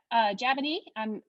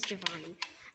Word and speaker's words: Javonee: Hi, Jabini. Please feel free to ask your question, and I'm sorry if I pronounced your name incorrectly. Yeah, it's Giovanni.